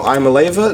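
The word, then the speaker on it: Iamaleava: Nico Imaleva, that's how you say it, the Tennessee quarterback, he went 14 for 31 for 104 yards, no picks, no tutties.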